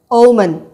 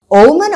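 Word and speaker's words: Omen: 1976ல release ஆன தி ஓமன் உங்களுக்காக இன்னொரு தடவை உச்சரிக்கிறேன் ஓமன் ஓமன் அப்படின்னா சகுணம் குட் ஓமன் அப்படின்னா நல்ல சகுணம் பேட்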